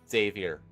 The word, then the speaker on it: Xavier: has an X sound Xavier like uh X-Men Xavier is pronounced Xavier in the X-Men so that's how I